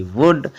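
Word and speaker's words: would: ओ यू एल डी वुड बहुत से लोग इसको क्या बोलते हैं कुड वुड शुड बोलते हैं लेकिन ऐसा नहीं बोलना चाहिए सेकंड रूल हमारा क्या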